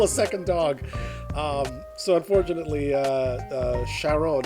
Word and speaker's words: Sharon: So unfortunately, Sharon, even though it should be pronounced closer to Karen, he had to go.